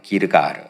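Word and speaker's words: Gilgal: 여러분, 길갈, 정확히 히브리어 발음으로는 기르가르입니다. 기르가르.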